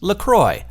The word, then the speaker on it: LaCroix: And they say on the website, it says right there, it's pronounced LaCroix, like enjoy.